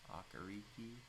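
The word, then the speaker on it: Okereke: somebody to solidify our linebacker core and Bobby aari that's how you say his name and then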